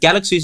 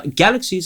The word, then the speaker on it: galaxies: So uh galaxies and fantasies she both mispronounces by putting stress on the last syllable instead of the first one.